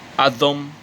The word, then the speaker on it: Adam: We speak of the Adam, or Atom, Adam, who was, yes, that's how it's pronounced in Hebrew, by the way, who was, who is the atom, right?